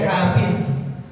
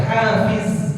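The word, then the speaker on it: حافظ: Terus hafiz, huruf dha. Ya, huruf dha. Ya, jangan diganti jadi zai. Hafiz, bukan hafiz, tapi hafiz.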